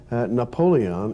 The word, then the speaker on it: Napoleon: name is Napoleon Bonaparte Napoleon is simply the English Way of pronouncing the French male up only own